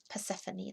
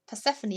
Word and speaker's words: Persephone: Persephone, that's it. Persephone.